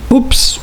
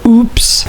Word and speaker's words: oops: mean this word oops you can actually either say oops or oops it goes both ways great the remaining three